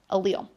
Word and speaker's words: allele: totally okay it's an allele okay so Al and then Leo is how you pronounce it allele okay it's different versions